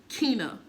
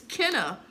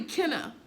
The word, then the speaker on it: Kenna: I couldn't do that with Kina. Like, literally. She used to get mad because I said her name wrong. Like, the fuck? And I just said it wrong. It's Kenna. Really, Kenna.